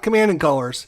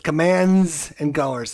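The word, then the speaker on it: Commands & Colors: The system is called commands and colors, not command and colors. It's not command and color. It's commands and colors.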